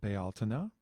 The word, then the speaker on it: Bealtaine: people recognize it as Bealtaine. I pronounce it Bealtaine because a friend of mine in Ireland pronounces it that way, and I just kind of like it.